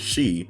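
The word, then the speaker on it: 四: so you know how four is considered an unlucky number in Japanese since sometimes it can pretty much be pronounced as Shi which means death yeah well next Saturday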